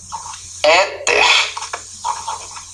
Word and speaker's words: éter: A palavra éter também, ó. Éter, a sílaba na penúltima é pronunciada de maneira mais tônica.